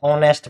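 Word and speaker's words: honest: तो है, एच है, लेकिन जब इसको पढ़ते हैं तो क्या पढ़ते हैं, ऑनेस्ट पढ़ते हैं, क्या पढ़ते हैं, ऑनेस्ट। तो ओ आ रहा है न कि ह आ रहा है, इसको ऑनेस्ट नहीं पढ़ते हैं, ये ध्यान रखना है।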